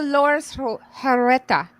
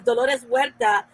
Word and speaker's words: Dolores Huerta: it for a long time who is the lord through hereta yeah you're just saying it weird that's why we didn't understand we call them seizures i pronounced it yeah dolores huerta is uh was part of that she worked